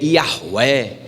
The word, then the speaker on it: Yahweh: Comumente eu falo sobre Yavé, mas você vai ver pessoas brigando até a morte, dizendo que o nome de Deus não é Yavé, o nome é Yahweh, e tentando chegar perto